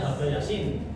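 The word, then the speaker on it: H.B. Jassin: Bacanya Habe Yasin.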